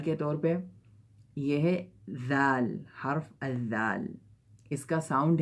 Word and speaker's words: ذ: جہاں پہ ثا بولتے ہوئے زبان نکالتے ہیں وہیں پہ ذا بولتے ہوئے زبان ہمیں نکالنا پڑے گا. تو ذا بولتے ہیں.